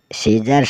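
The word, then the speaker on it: scissors: एस सी I double S ओ आर एस सीजर्स सीजर्स मतलब कैंची एस सी आई ओ एन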